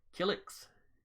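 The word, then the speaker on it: Killiks: known as the we'll try to pronounce this right kilix k-i-l-l-i-k-s helix uh it's the same pronunciation as the person from soul calibur okay uh intelligent insectoid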